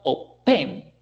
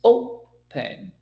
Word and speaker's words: open: It's not open, right? It's open. Therefore, the last letter, N, is not going to be double because the accent, the stress, is not on the last consonant.